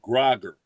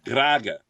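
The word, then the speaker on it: גראַגער: it would be a groger but it isn't a groger it's a graga you Trill the r slightly AAG okay we learned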